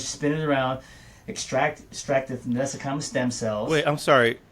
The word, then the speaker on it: mesenchymal: Mesenchymal? Yeah, it's pronounced so many ways, but the way I pronounce it, mesenchymal stem cells, or MSC.